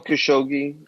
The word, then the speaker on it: Khashoggi: that right ashok g in the documentary they pronounced it jamal khashoggi uh khashoggi right um yeah um so it's